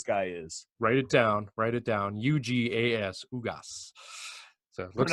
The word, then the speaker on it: Ugas: Ugas definitely is not a guy that's a catch-as-catch-can style boxer.